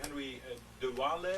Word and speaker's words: Henri de Waele: So my name Henri de Waele, if you want to pronounce it in a typical Dutch fashion, the country of which I hold a passport.